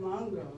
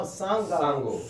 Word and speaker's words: Songo: And we have Sylvain Longo here. No, Songo. Songo.